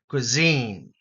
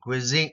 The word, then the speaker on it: cuisine: right appetizer Savor pallet Cuisine the S here has a z sound right quiz cuine cuisine cuisine appetizing condiment Bland